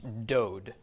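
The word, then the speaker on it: דוד: doll it there another D so this is pronounced dode dode is in fact a word dode means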